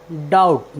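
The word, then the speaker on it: doubt: के पहले आया है इसलिए हमने बी का उच्चारण नहीं किया है हमारा नेक्स्ट वर्ड मीनिंग है डी ओ यू बी टी डाउट डाउट means होता है संदेह और हमारा नेक्स्ट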